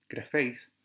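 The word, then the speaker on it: γραφείς: Me voy a detener un poco en la primera palabra, que es grapheis, con el tilde, perdón, con el acento en la segunda sílaba, grapheis, y es el participio aoristo, que se conjuga como aoristo primero en su voz pasiva.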